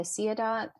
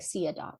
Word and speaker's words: Siadat: just my name seadot and that's c-y-n-t-h-i-a-s-i-a-d-a-t uh and pronounced like c a dot see a dot on the page um